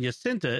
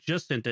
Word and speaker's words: Jacinta: And the J in Jacinta is pronounced as a J, in Jacinta is pronounced as a J, like Janet.